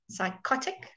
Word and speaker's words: psychotic: box on open mouths are psychotic so the emphasis is on Oh psychotic all right and then